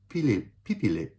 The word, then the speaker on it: pipili: In the future tense, so will run, will walk, will choose, right, are pronounced tatakbu for will run, lalakad for will walk, and pipili for will choose.